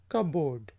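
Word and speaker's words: cupboard: Keep your shoes in द कबोर्ड। Keep your shoes in द कबोर्ड। कबोर्ड के बजाय आप कबोर्ड, इसमें P silent होते, कबोर्ड, और इसकी जगह आप अलमीरा भी कह सकते हैं।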